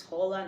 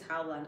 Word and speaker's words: Howland: Howland also, I don't know if it's Holland or I think it's Howland because it's spelled H-O-W.